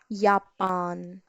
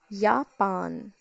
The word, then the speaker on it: Japan: Now J is very important because J in English is pronounced as yacht in German, yacht. So if we have Japan, in English we call it as Japan, but in German it is Japan, Japan.